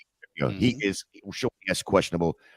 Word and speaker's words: Ogunjobi: Ogunjobi. Ogunjobi.